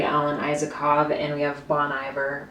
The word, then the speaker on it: Bon Iver: isakov and we have Bon Iver or Bon Air depending on how you say it but I really loved